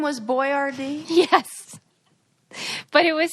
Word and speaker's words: Boiardi: I would have pronounced it Boyardee. Yeah. But then when they changed it to be spelled Boyardee. phonetically, we must have changed like where you stress the accent.